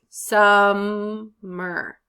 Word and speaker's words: summer: Summer. Summer. It's on the first syllable.